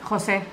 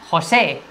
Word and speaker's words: José: Debería ser... José. José, porque es una palabra que se aguda, que tiene tilde y acento en la E.